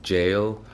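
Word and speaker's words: Gaol: out it pronounce it gold but it's actually jail yeah it's g a o l but you pronounce it as Bonnie jail okay so now this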